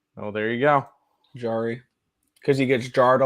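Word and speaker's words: Jarry: to the Bruins okay yari's like a jar that's how they say it in in Pittsburgh well there you go jari because he gets Jarred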